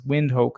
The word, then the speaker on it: Windhoek: I think it's Windhoek, it's pronounced.